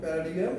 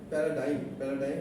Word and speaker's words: paradigm: ইন the software engineering this প্যারাডিগাম is stand, প্যারাডাইম stand, and মানে উচ্চারণটা DIGM, তো প্যারাডাইম। And in the software engineering,